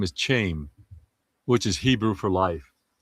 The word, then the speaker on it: Chaim: To pronounce it in Hebrew is Chayyim but it was so cool and we just said, well they kept saying we love you Chaim.